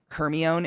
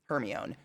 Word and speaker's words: Hermione: in the movies and hearing how the names were pronounced in the movies versus in my head. Hermione, anybody? Hermione. It fucked me up.